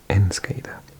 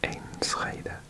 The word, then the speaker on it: Enschede: I think it's pronounced Enschede. But I think I pronounced it differently. I'm going to try it again. Enschede, Enschede, Enschede.